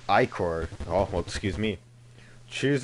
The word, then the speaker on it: ichor: I can fill it with magical liquor. That's pronounced ichor.